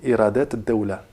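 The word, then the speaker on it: إيرادات الدولة: Donc quand on a harf shamsi, ici, shamsiya, on ne dira pas, on ne prononcera pas alif ou lam, donc iradat ad-dawla.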